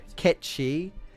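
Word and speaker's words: Cait Sith: I think I mentioned it before, but it's because Ketchi is apparently what Kate Sith is supposed to be, which is based on the, you know, the mythical cat or whatever.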